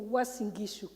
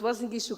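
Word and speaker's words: Uasin Gishu: When you introduce me, you couldn't pronounce my county. My county is called a member of parliament for Wasingishu County. And it's very important that you know it because Wasingishu County is the city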